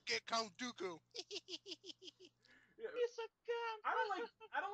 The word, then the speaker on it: Dooku: All right, I'm gonna go ahead and say Count Dooku because every time they said his name, I would start laughing in the movie theater. That's fucking dumb. It rhymes with doo-doo.